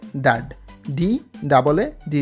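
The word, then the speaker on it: DAAD: হচ্ছে একটি জার্মানি ভিত্তিক স্কলারশিপ ব্যবস্থা যেটি ইংলিশে উচ্চারণ হবে ডা ডাবল এ ডি ডা আপনি যদি ইউকেতে পড়াশোনা করতে যেতে চান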